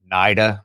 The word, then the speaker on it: NIDA: It's NIDA, I think is how they pronounce it.